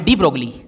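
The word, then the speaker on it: de Broglie: हालांकि बेसिकली इसका जो प्रोनाउंसिएशन है इसको ब्रोए पढ़ा जाता है, बट नॉर्मली मतलब आदत पड़ गई है, सब टीचर्स वगैरह भी ये पढ़ाते हैं, तो डी ब्रोगली अपन भी डी ब्रोगली बोलेंगे। हालांकि डी ब्रोए, अच्छा मतलब इसका प्रोनाउंसिएशन मैं आपको बताऊं तो ब्रोए इस तरह से कुछ।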